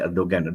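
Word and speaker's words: Erdoğan: Bukan Erdogan lah, ramai orang baca Erdogan. No. The G is pronounced as Erdogan because this mentioned by my colleague in Turkey.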